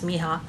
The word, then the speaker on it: mija: mija that went above I say it's pronounced mihots m-i-j-a could be my job but I'm pretty sure it's Miha this one the names